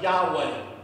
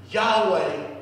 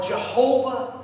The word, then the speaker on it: Yahweh: English transliteration is Jehovah childhood in the Hebrews pronounced Yahweh Yahweh or Jehovah Jireh he reveals himself as a God who